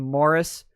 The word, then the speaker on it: Maurice: movies like we're watching morris uh which is spelled maurice but it's pronounced morris because the british are fucking weird and then uh we